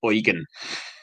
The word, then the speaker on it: Eugen: Sorry, it's bugging me, but that's pronounced Eugen, not Yugan. Not Yugan. Yeah, Okay, Eugen. it's one of those weird ones. It's German, I think.